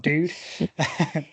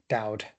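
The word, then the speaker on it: Doud: He was sent to San Antonio, Texas, where he met Mame Genevieve Dude, or Dowd. Even Dowd is probably more the pronunciation on that one, not Dude.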